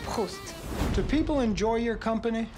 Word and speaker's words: Proust: Well, look, it's not Proust. It's pronounced Proust.